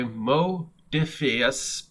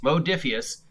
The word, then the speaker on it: Modiphius: trek adventures rpg by mo diffius because apparently i've upset somebody by saying it wrong so modiphius mephidius modiphius has got four days left